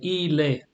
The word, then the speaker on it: il est: Remember, you don't pronounce the T here, you don't pronounce it either.